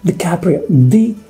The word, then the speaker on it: DiCaprio: leonardo dicaprio here i come oh here comes dicaprio caprio leonardo dicaprio has italian backgrounds he's also